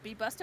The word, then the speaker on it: Be Busta: I like is it Be Busta or Be Busty? How you pronounce it? Be Busta because it's Busta.